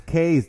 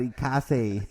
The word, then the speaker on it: ikk4ze: Yeah, he almost came in here and slapped us in the face and said, "Hey, man, it's Case, not ikk4ze."